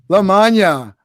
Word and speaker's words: Lamagna: Lamagna, pronounced like lasagna, right?